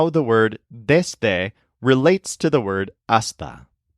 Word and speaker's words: desde: This place that you're crawling from is called desde. So this word has a stress on something that sounds like days. However, be careful about the pronunciation. It's not desde. Use a nice short E.